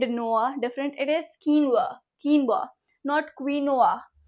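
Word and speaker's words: quinoa: ओ हो किनवा ब्रश प्रस okay let's कीनवा कीनवा नॉट क्वीनो इट इज़ नॉट क्वीनोआ इट इज़ नॉट क्वीनोवा इट इज़ not queen and नोवा different it इज़ कीनवा कीनवा नॉट क्वीनोआ we promise not a typo या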